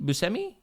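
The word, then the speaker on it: Buscemi: swinging uh actor Steve busi is that he say his name bumi bumi you seei do you see me do you not Bui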